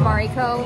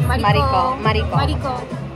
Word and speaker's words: Mariko: Mariko, like Mariko. Mario. Oh. Like Mario with a K. I say it so Japanese. Mariko.